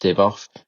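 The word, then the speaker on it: Divoff: that um Andrew I think it's Div is pronounced DV off.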